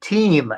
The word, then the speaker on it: Tim: who pronounce the I instead of Tim. They would pronounce it like a long E. Team, they would call me sometimes, which Okay.